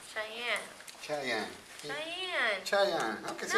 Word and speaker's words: Cheyenne: Cheyenne.